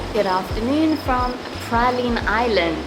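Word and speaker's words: Praslin: Good afternoon from Proline Island. It's actually spelled like this, but it's pronounced Proline.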